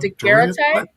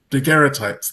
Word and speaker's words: daguerreotype: I want to call it Daguerreotype? daguerreotypes.